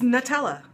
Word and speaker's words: Nutella: It's Nutella. Nut. N-U-T. Nutella. Nutella.